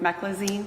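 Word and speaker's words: meclizine: Are you familiar familiar with a drug um I'm not going to pronounce this correctly. M E C L I Z I N E Meccloine. Meccloine. Are you familiar with Mecklazine?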